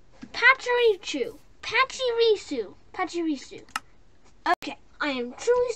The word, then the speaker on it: Pachirisu: in my box of dictionary okay it's pacharicchu pachirisu pachirisu okay i am truly sorry about that